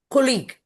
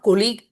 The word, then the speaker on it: colleague: Colleague, it is not colleague, it is colleague.